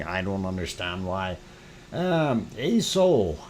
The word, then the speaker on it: Aso: don't understand why um a soul aso is the way it is spelled and that is a soul sound um and normally we